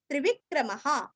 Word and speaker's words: त्रिविक्रमः: त्रि और वी दोनों भी रस्व क्रम के आगे विसर्ग का ह अथवा हा। त्रिविक्रमः।